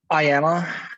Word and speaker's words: IAmA: actually you know inform the world around them iama um is a uh the proto community for amas um it literally it is pronounced i am uh to dispel the various